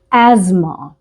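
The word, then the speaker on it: asthma: अस्थमा कहते हैं क्योंकि स्पेलिंग होती है ए एस टी ह अस्मा तो यह उसके अटैक्स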